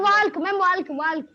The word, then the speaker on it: walk: Ma'am, we have to Ma'am, walk. Walk. Ma'am, walk. Walk. Now walk. Aman, walk. L is silent.